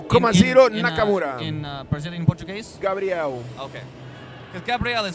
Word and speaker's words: Gabriel: Gabriel. Okay. Because Gabriel is pronounced as a girl's name in American English.